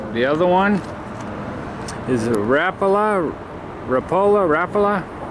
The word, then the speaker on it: Rapala: The other one is a Rapala. How do you say that, Andy? Rapala.